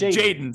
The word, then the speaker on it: Jaden: I butchered Jordan's name a lot last year, so I want to apologize to him. It's Jaden, so you butchered it again.